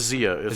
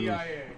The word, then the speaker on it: Zia: What is the how do you pronounce it again? A Zia? What did you? It's a Zia. So it's a Native American. ZIA.